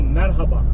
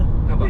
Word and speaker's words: merhaba: example, merhaba.